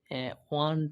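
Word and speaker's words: one: অবশ্যই বাওয়েল, কিন্তু এর উচ্চারণ কিসের মতো হয়েছে? ওয়া, ওয়ান টাকা নোট, তাই না?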